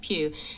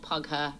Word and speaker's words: Pugh: Florence Pugh. It's like Hugh, but with a P. No, it's not Pugher, and no, it's not Pooh.